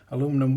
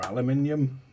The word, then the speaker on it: aluminium: It does advise to use the countersunk ones with the tiny anodized aluminum washer or aluminium, whichever way you want to pronounce it.